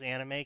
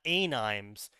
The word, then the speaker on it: anime: press release of Japanese anime coming to America, they had to include in the press release to tell the journalists to pronounce it anime and not animes, because the journalists kept saying anime.